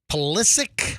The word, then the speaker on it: Pulisic: goalie what's his name pulisic I think he'd say pronounced ballistic yeah this guy was